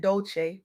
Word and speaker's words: Dolce: I'm Dolce, pronounced dol-ce like sweet softness whispered in French.